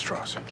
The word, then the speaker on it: Strauss: Strauss, It's pronounced straws. I've gone back and listened to Oppie say straws 5 times now, and I swear he says straws.